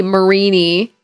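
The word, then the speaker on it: Mareanie: Because it should be marini, like marine, like the water marini. I was like, I don't know. It looks like Mariani to me.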